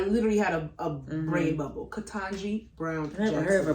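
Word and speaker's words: Ketanji: interesting little fun confusing names there are many mispronounces to the channel how do you say it katanji brown brown jackson the tanji katanji and i've heard it for weeks so shame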